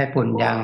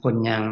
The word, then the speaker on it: ปุญญัง: ซึ่ง บุญ ต นี้ ย หิง ออก เสีย ขึ้น จมูก นะ ไม่ ใช่ ปุ่น ยัง นะ ปุญ ยัง นะ ออก เสียง ะ ปุญ ปุย ปุญญัง คน คน ท อาจ